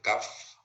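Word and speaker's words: cuff: Y esto es el CAF, se escribe CUF, pero se escribe CAF.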